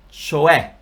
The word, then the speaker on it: cioè: So the pronunciation is cioè.